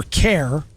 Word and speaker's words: CAIR: If everybody has heard of CAIR, C-A-I-R, or CARE, as it's pronounced, you have the Council on American Islamic Relations, CAIR, Council on American Islamic Relations.